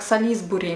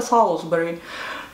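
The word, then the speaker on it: Salisbury: Например, Солсбери пишется как Солисбери. Мы всегда говорили Солисбери, Солисбери, а потом нас поправили и сказали, вообще-то это Солсбери.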